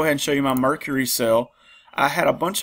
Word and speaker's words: Mercari: Somebody tried to correct me on the pronunciation of Mercari, but I think I was saying Mercari like the planet, but it's Mercari.